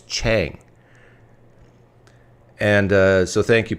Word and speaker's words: Chang: PF Chang P.F Chang this is how you pronounce it it's Chang and uh so thank you Paul for allowing